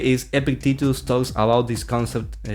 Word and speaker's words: Epictetus: It is normally pronounced as Epictetus.